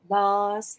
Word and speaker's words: Lars: Lars Thorwald. Yeah. Because it rhymes with Mars, and you don't want him to, you know, get confused with the god of war or anything.